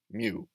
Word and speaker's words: mu: is the greek letter mu so i've included a pronunciation guide it kind of sounds like a combination between a cow and a cat mew or that what a